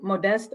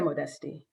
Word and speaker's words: Modeste: say your last name it's either modest or modesty um either way is fine with me how do you say it I say modesty modesty okay so connect